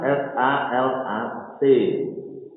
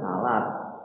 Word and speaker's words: salat: Nulisnya salat S-A-L-A-T. Tapi kalau orang Islam sudah pernah itu muncul jangan salat ya. Napa? Salat. Walaupun dalam kaidah bahasa Indonesia nulisnya salat.